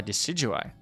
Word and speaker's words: Decidueye: learn a new move how do you pronounce decidueye uh decidueye it's like deciduous and i i guess